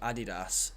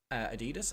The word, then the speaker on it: Adidas: with in some capacity with a company called Adidas, but a lot of Americans say Adidas. And I was talking Yeah. to an American the other day, and they were like, "Is it not Adidas?"